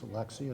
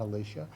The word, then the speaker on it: Alexia: First of all, I mispronounced your first name. I know your name is Alexia, not Alicia.